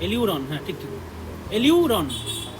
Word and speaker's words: aleurone: এলিউরন, হ্যাঁ ঠিক ঠিক, এলিউরন, ALEU, এলিউরন, দুই ভাগ করে নাও একে।